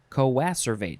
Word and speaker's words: coacervate: Coacervate, that's how you say it.